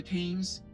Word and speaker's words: Thames: Don't they not pronounce the th in the Thames? Isn't it the like hard a, like what you would do to like an animal? The Thames.